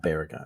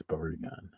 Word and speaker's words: Barugon: But It's not Baragon, it's Barugon.